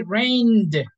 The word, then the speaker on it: rained: we are going to say rained rain okay with the D sound very good okay guys